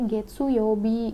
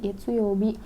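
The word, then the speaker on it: 月曜日: Jadi dibacanya getsuyobi, getsuyobi.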